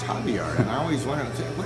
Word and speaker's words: Xavier: I see this word Xavier on the signs all over down there in Arizona, and they pronounce it Javier.